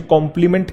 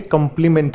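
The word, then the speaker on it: complement: इसे भी बहुत बच्चे कॉम्प्लीमेंट कहते हैं, जबकि ये कॉम्प्लीमेंट नहीं है, ये कंप्लीमेंट है।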